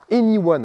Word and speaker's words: e:Ny1: Voici le nouveau Honda Anyone. Alors ça s'écrit E-N-Y-1, il faut quand même connaître la prononciation avant de se lancer.